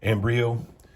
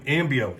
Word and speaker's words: Ambio: amber uh I know I just mispronounced his name as well embryo how do you say his name anyway um you you say am ambio ambio there there we go